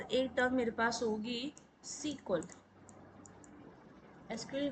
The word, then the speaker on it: SQL: मेरे को पता है दैट सीक्वल जब एम आई प्रोनाउंस जम सीक्वल that E stands for English sir कि जो इंग्लिश लोगों ने इनको बनाया था दे वर pronounce it एस सीक्वल नॉट एस क्यूएल ठीक है जी अब